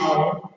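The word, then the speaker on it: hour: So our, here although H is there, but H is silent, the sound comes here, so an our.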